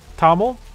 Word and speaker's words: Thommel: Oh, thank you, Thommel. Tommel. I think you said you don't pronounce the H.